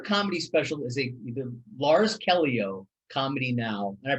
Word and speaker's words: Lars Callieou: okay so your comedy special is a the lars kelio comedy now and i pronounced your name right exactly right now special